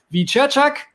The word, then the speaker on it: Wieczerzak: Als Nächsten haben wir den Weltmeister 2017 und Judoka Alexander Wiczerczak. Richtig ausgesprochen.